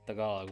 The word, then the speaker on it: Tagalog: Because there are some people that say Tagalog with a really hard G at the end of it, you know?